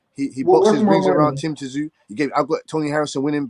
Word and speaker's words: Tszyu: Not Tim Tszyu, Tszyu, man. Goucher gave Tim Tszyu problems. The T is silent, man.